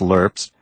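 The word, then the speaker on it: LRRP: packed standard issue canteens lrps meals that were pronounced lerps hot sauce to kill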